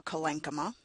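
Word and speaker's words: collenchyma: colenchyme - or COL - EN - KA -MA.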